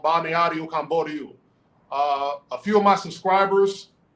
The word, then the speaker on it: Balneário Camboriú: Balneário Camboriú.